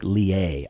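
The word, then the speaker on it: Leahy: There's a great book called Satan Cast Down by Frederick Lehay. I think you pronounce his last name Lehay. It's L-E-A-H-Y. It's a crazy... No, it's Lehay.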